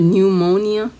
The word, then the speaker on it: pneumonia: Can you spell the word pneumonia? What? Pneumonia. Isn't it Pneumonia? No. No? Big one? Yeah, try again. And wrong. The first letter is silent.